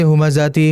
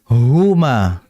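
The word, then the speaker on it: هُمَزَة: Perhatikan pada huruf H. Huruf H ini bersifat hamas. Maka perhatikan dalam membaca hu. Jangan kita bacanya wailul likulli humazati, humazati. Melainkan huma. Ada desisan.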